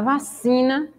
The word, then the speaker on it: vacina: E na palavra vacina, a sílaba se também se destaca mais. Vacina.